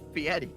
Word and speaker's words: Fieri: Ever hear of Guy Fieri? No, I don't think so. Also, I'm pretty sure it's pronounced Fieri.